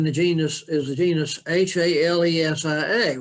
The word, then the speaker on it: Halesia: as a Genus h-a-l-e-s-i-a well guess what Latin would pronunciation would be helicia but since Stephen Hill Hales is his name you have to pronounce it according to how he pronounced his name so what would be Latin pronunciation Alicia becomes halesia so a little bit